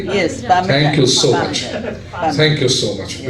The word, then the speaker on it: Parmesan: And those who like eggplant would look, wow, eggplant Parmeshon. Did I pronounce correctly? Yes, Thank you so much. Parmesan.